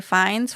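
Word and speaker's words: Fiennes: complete unknown colan Domingo for sing sing Ray fines for conclave I said it right Sebastian Stan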